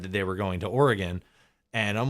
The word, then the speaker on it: Oregon: Just like I'm not going to call it Oregon, like so many freaks everywhere else in the country say. I'm going to call it Oregon.